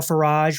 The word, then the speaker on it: Farage: It's Farage, rhymes with garage, kind of like Marriott rhymes with chariot.